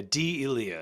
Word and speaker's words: D'Elia: I go D'Elia, and they're like, "Oh, is that it?" I go, "Yep." Yeah, D'Elia is actually how you say it.